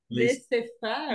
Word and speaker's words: laissez-faire: How do you pronounce it? Laissez-faire.